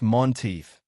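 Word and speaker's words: Menteith: The Lake of Monteith, pronounced Monteith, commonly known as Scotland's only lake.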